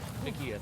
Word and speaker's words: McEdith: And we're already seeing a nice, strong start from, how do you pronounce that? McEdith? McEdith, okay, thank you.